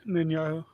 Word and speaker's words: Netanyahu: You said it, Netanyahu.